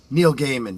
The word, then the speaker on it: Neil Gaiman: Neil Gaiman. Yeah, exactly. And you pronounce it correctly.